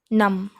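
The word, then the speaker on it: numb: नम, बी दिख रहा है लेकिन उच्चारण में लेना नहीं, नम.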